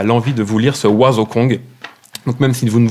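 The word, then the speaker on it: Wazokong: Et là, il nous a sorti, il y a 2 ans, un ouvrage magique qui s'appelle Oiseau Kong. Alors, ça s'écrit W-A-Z-O-K-O-N-G.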